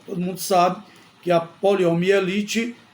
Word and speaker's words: poliomielite: pronuncia de forma inadequada poliomielite o nome correto é poliomielite mas muita gente pronuncia poliomelite poliomelite sem o i Mas neste caso é necessário usar o i a palavra quem trabalha